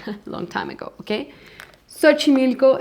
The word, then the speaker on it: Xochimilco: Xochimilco, it's also a lot of these words that has that S, is they're coming from Nahuatl. For example, Xochimilco, we have some, for example, Xoconostle.